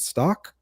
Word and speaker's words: Stauch: Is it Stock? Stauch? How do you say that? Stauch. It's pronounced Stauch.